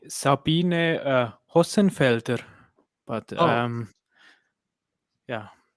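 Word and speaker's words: Hossenfelder: can speak germans fluently how how would you pronounce that name haasenfelder awesome wait a second i want to open it i would say sabine uh rossenfelder but um yeah it's beautiful to hear someone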